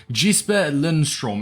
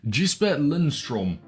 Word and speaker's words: Jesper Lindstrøm: Academy jisper Lindstrom and hopefully I'm pronouncing that somewhat correctly in fact Let me give a quick pronunciation up so I don't butcher it for the whole 10 minute video apparently we got quite close I think it's Jesus Lindstrom uh we'll just call them Jasper now when you first